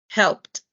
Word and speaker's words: helped: So, por lo tanto, tienes que omitir el sonido de la E, ¿verdad? Es como si estuvieras diciendo esto. Helped. ¿Ok? Pero en realidad lo que estás haciendo es omitiendo el sonido de la E y pronunciando esa D final como una T.